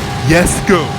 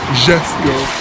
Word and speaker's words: Jesko: A lot of people are pronouncing its name wrong. It's Yesko, not Jesko, not Gisko.